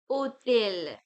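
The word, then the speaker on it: hôtel: So like S in English H is not pronounced H is not pronounced normally. For example, hotel is pronounced as hotel.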